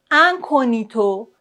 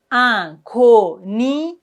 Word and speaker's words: incognito: En général dans ce caslà, on ne prononce pas le G comme par exemple magnifique. Magnifique. Incognito. Incito. Vous voyez, on ne prononce ça le G.